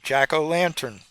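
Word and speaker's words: jack-o'-lantern: Jacko lantern. You know, because we English people, we get we get uh lazy about pronouncing all the little article words. So eventually it just becomes Jacko'Lantern.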